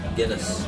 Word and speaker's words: Guinness: Guinness.